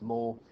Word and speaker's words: mots: is titled vocabulary and this word looks like moths that's pronounced mole it actually means words